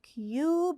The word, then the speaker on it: cube: no it sounds different so cub has a short u and cube has a long u with an e in the end okay now we're ready